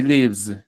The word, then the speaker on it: lives: He lives. Esta s si suena como Z.